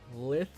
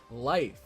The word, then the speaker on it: lithe: The only reason why I pronounced it as lithe is because of lithium. Well, I guess it's not spelled exactly the same, but it made me think of lithium, so I thought that was how you pronounced it.